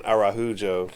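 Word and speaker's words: Araújo: always thought it was araujo but they were saying arahu Joe uh Portuguese pronunciation is a little different from Spanish well if well if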